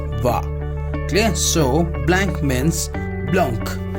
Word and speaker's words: vin: And vin, V-I-N, is going to pronounce as va.